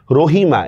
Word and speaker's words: রহিম: তা আমি যদি বলি রহিম এক্ষেত্রে কি হবে? হ্যাঁ এক্ষেত্রে আপনার মর মধ্যে হসন্ত হবে।